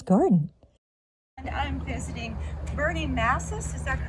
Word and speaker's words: Mases: And I'm visiting Bernie Massis, is that correct? Yes. That's how you pronounce it?